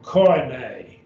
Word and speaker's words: koine: It's the oi sound, like in oil. I mean, this word oil, oi, oi. And so koine. The oi, koine. Accent on the eta, koine. That's the word common, and